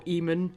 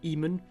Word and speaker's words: Eamon: example of that, because technically it should be pronounced Aemon, but most of the characters pronounce it Eamon. Some of them do say Aemon, though. I have noticed one or two of them saying Aemon.